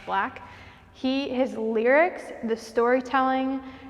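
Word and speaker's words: 6LACK: black is so underrated it's six and then like l-a-c-k but it's pronounced black he his lyrics the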